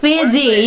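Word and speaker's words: φίδι: You say D. Think of the. Fidi. Fidi. Think of that.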